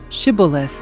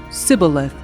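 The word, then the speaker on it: Shibboleth: They would tell him to say Shibith. If he was from Ephraim, he would say cibilith because people from Ephraim cannot pronounce the word correctly.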